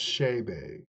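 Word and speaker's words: Chébé: So it is pronounced Shebe.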